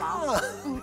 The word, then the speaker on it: lama: Llama. Yeah. And our llama, is pronounced that way in English. Even it has two L's for this camel-like animal, right? But it's llama. And a precise homophone.